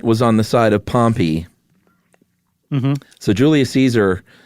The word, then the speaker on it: Pompey: And that is Pompey. Is that how you pronounce it? We can't say Pompeii because that'll get confusing. Yeah, it's I always said Pompey.